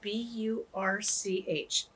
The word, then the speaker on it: Burch: So remember, if you get a chance, look up Laurel Burch, and Birch is spelled B-U-R-C-H, not like the tree, but that's her last name, Burch.